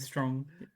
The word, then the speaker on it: Strong: Strom and Strong. I mean, they're not far off each other. I always say Mim Strong. Pronounce the M and the G because she is so strong.